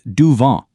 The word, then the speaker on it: du vent: For those breezy days, the word you're looking for is du vent. Notice how the T is silent.